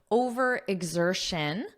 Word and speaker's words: overexertion: talk about overe exertion first let's look at the pronunciation because notice you have X but that's not how it's pronounced it's pronounced as exertion exertion exertion exertion and then then you just add over in front of it OV exertion over exertion so exertion is the